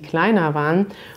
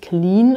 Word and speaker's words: Klein: für leute gewesen die kleine und das interessante ist bei der aussprache hier weder des e ii klein man sagt nicht queen oder sowas sondern klein und dann haben wir